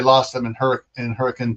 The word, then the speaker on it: Hurricane: And it's pronounced hurricane, not hurricane.